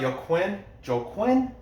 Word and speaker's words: Joaquim: Joaquim. There's not an N, that's an M at the end.